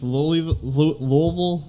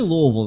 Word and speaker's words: Louisville: to Omaha, and I had a flight from Louisville. They say Louisville there.